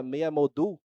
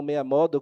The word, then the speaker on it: Meia Modul: E eu tenho que fazer um adendo, a pronúncia seria meia modul, não meia modo, como nós naturalmente faríamos, porque modul advém de modularidade, que é a técnica utilizada para a engenharia que pratica.